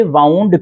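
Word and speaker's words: wound: इसे वाउंड भी पढ़ा जाता है और इसे वुंड भी पढ़ा जाता है।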